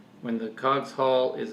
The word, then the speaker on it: Cogshall: I'm here with Courtney today, and we're going to be eating the Cogshall mango. I usually pronounce it Cogshall, but it actually is supposed to be Cogshall.